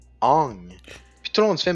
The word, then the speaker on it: Aang: Genre, c'est pas Aang, c'est Ong.